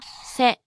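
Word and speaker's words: せ: Okay, let's see it again. This is the hiragana character, se.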